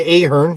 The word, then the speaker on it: Ahern: It was her last album with her husband of a long time, Brian Ahern. Is that how you pronounce his name?